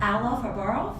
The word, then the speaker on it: Alla Farberov: And today I am so excited to have Alla Farberov. Did I pronounce that correctly? Yeah. Okay.